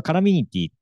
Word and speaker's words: Columinity: たねはいえこれあのカラミティと読みますはいえこれ使っ